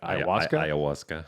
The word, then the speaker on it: ayahuasca: Ayahuasca. Is it ayahuasca? Ayahuasca. That's how you pronounce it.